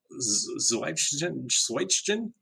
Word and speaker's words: zwijgen: Care to take a shot at the Dutch pronunciation of that, Michael? Nope, because I don't even have it written down. It's Zwijgen, ZWIJGEN.